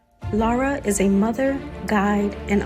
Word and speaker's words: Lara: Now, I am pronouncing your name correctly, right? It's Lara or is it Lara? No. Yeah, Lara works.